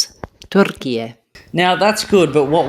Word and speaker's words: Türkiye: Türkiye. Yep, so that is a native Turkish speaker there, so that's going to be a lot closer to, or should be correct to, the proper Turkish pronunciation of Turkey.